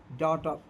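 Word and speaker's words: daughter: फेर next rule देखें यदि किसी वर्ड में ए प्लस यू और उसके बाद जी एच टी आया हो तो ए का साउंड अ होता है और जी एच साइलेंट होता है।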